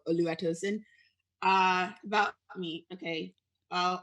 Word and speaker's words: Oluwatosin: give about lua tosun they call me olu because it's easier to pronounce but oluwatosin uh about me okay